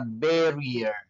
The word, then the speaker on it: barrier: Perhatian kembali, double R hanya diucapkan satu R sehingga mirror. Kemudian juga pada kata barrier, double R di tengah cuma diucapkan satu.